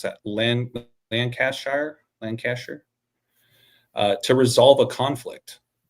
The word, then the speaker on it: Lancaster: It's an order issued by King James I of England for use in land, how do I pronounce that? Lancaster. Lancaster.